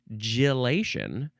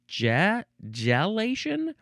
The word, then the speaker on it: gelation: The first one is gelation. This one is gelation. The first one has a more of an an I sound at the beginning, and the second one has more of an E, an sound.